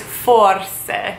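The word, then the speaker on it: forse: language so how you would say maybe is for say so now that we know the very most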